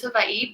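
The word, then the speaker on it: Hawaiʻi: to pronounce it is hawaii because in the hawaiian alphabet w's are pronounced in the v sound and so vi for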